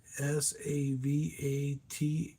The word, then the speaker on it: Savatage: Christmas Eve is what it's called, and Sarvano Savage, I think is how you say it. Savantage. That's Sarag. Sorry, Saragevo, and it's Savatage from '95.